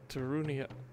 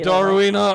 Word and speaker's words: Darunia: do you remember him that's right darunia I always called him darina I'm I love you I've always miss pronounce his name for my entire life